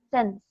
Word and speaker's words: sense: Tenemos 2 vocales, pero esta no suena. Y ¿Ok? since. Entonces, cuando en una sílaba hay una vocal y luego una consonante, el sonido va a ser corto.